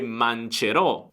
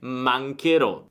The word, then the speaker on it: mancherò: Però poi il suono cambierebbe, perché sarebbe mancerò, quindi dobbiamo aggiungere un H per mantenere lo stesso suono duro e dire mancherò.